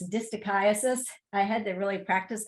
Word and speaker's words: distichiasis: They're the, so you know how to pronounce this word, it's distichiasis.